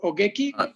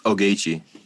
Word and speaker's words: Ogechi: Ogechi, did I pronounce okay your name, or Ogeki? Yeah, it's Ogechi.